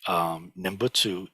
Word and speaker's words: Nembutsu: Nembutsu is how it's pronounced in Japanese.